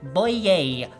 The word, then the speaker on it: Bouye: Bouye. That's the correct pronunciation.